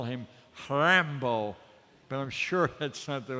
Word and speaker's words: Rimbaud: French so let me try and call him ramble but I'm sure that something that's pronounced looks like Rimbaud he said something at